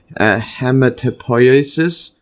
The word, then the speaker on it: hematopoiesis: Or Bursa Fabricii is the site of hematopoiesis. Let's see the pronunciation again.